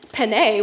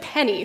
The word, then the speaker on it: penne: name of a pasta so i said penne which is correct and she said penny like the coin um yeah i i